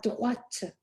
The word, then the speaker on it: droite: both of which end in E, and the E allows that consonant to be pronounced. So you will have droite.